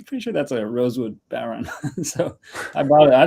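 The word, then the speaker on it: bodhrán: We just talked about that last week on the show with Steven Seidenberg, who was explaining to us how it should be pronounced. Bowron.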